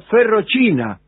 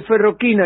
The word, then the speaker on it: ferrochina: En algunos decían hierroquina y otros decían ferrochina, porque ferroquina es italiano. Claro. Y entonces se escribe ferrochina, ferroquina. Bisleri era el fabricante, ¿no?